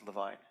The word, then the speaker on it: Levine: saw on the spine the name stephen levine pronounced the vine and the book was